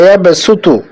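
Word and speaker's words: يبسط: সূরা আল বাকারা ২৪৫ নং আয়াতে আছে ওয়াল্লাহু ইয়াকবিদু ওয়া ইয়াবসুতু। এখানে সদ আছে, সদের উপরে সিন আছে। এখন প্রশ্ন হলো, আমরা সদ উচ্চারণ করব নাকি সিন উচ্চারণ করে পড়ব? এটাকে পড়তে হবে সিন দিয়ে।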